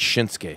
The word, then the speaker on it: Shinsuke: It's not Shinsuke. It's Shinsuke. Shinsuke Nakamura to return to action tomorrow on SmackDown against AJ Styles. The U is silent.